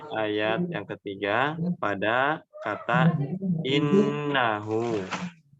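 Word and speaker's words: إِنَّهُ: Yang terakhir di ayat yang ketiga pada kata innahu. Innahu nun tasydidnya dibaca dengan dengung yang lama. Ya. Tahan dulu. Jangan terburu-buru.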